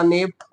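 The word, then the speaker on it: knave: एक होता है के से शुरू होने वाला नेव, जिसमें के साइलेंट होता है।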